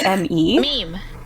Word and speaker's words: meme: Dada chat wants to know how you pronounce m me e m e. Meme.